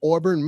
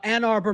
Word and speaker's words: Ann Arbor: Were you you said you were born in I think it was Auburn M Michigan in uh Ann Arbor, Michigan. Yes. Ann Arbor, right? I said it wrong.